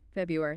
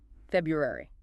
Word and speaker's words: February: it on me February February so you don't skip over that first r nope that first R is important February not February February okay I'm going to